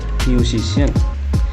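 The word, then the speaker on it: musician: இங்க வந்து அதன்ட உச்சரிப்பு வேற மியூசிசியன். இங்கசிஐ ஷன் என்ற உச்சரிப்பை கொண்டுருக்க அடுத்தது பிளாஷ் லைட் இங்க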